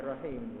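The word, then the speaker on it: رحم: Barang siapa memiliki zarahimin, bacanya rahim, ya, ra, ha, mim, ra-nya fathah, ha-nya kasrah, rahim, silatur rahim. Tapi jangan ha-nya dipanjangkan, bukan silatur rahim, tapi silatur rahim.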